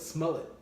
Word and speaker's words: Smollett: Smollett.